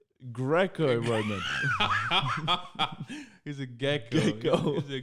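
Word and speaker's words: Greco-Roman: do you say a Gekko Gekko Roman Champion I thought you told me about the lizard it's a gecko man is that I mean that's how do you say it Greco Roman he's a gecko he's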